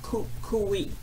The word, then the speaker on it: Kukui: pronounced the word for me and it's actually pronounced Kukui so this is kawaii Kui and this is